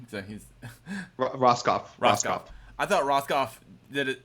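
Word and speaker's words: Rohskopf: So he's Roskopf.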